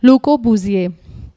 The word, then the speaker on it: Le Corbusier: आगे मैंने उसका नाम लिखा है आर्किटेक्ट का, Le Corbusier। ये उसका नाम है, इसको ऐसे प्रोनाउंस करना है आपको।